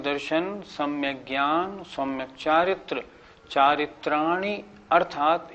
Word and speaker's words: चारित्राणि: कुछ लोग कैसे बोलते हैं, सम्यक दर्शन ज्ञान चारित्राणी मोक्ष मार्ग, ये गलत हो गया। चारित्राणी नहीं, चारित्राणी, छोटी की मात्रा को छोटी की मात्रा बोलना है।